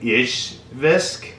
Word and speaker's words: Izhevsk: So this was made in a town, and I'm going to have a hard time pronouncing this because I'm not Russian, but it's Izhevsk, which is like Izhevsk.